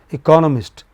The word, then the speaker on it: economist: Economist. Second syllable from the beginning beginning.